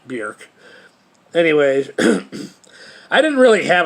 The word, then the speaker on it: Björk: it, and that's why if you say Bjork, it'll come up Bjork, even though it's technically pronounced Bjork.